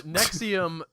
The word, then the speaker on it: NXIVM: with the cool name yes nexium and I you told me how it's spelled beforehand it spelled with a V you guys missed history